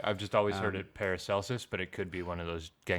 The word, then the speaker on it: Paracelsus: Yeah, and then we have yet another comparison that appears in Paracelsis's writings in a 16th Are we century sold book. on that pronunciation?